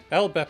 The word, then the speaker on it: LBP: is extremely outdated elbe elbe is an alternate pronunciation of the acronym LBP which came from a